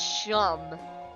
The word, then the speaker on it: Seam: The name's Seam, pronounced Shum.